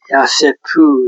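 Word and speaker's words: יוסף: 요셉이 27세의 소년으로서 그의 형들과 함께 요셉 야세 야세프 이렇게 발음이 되는데 야코브 족보 톨도트 이러하다.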